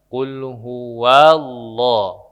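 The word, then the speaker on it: قل هو الله: dalam ayat pertama itu sering ada yang memantulkan huruf lam contoh misalkan kul Qul huallah quul ah itu memantul Pak padahal huruf lam itu tidak dipantul tidak dipantulkan maka cara membacanya Qul huwallah jadi Qul huwallah jangan di digabung qulhuwallah ya itu yang pertama jadi klnya dibaca jelas huruf lam tidak dipantul kemudian huruf Hua itu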